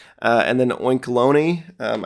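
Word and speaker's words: Oinkologne: and B and then oinkeloni um I think that's how you say it like it's bologna and Colony uh there's the two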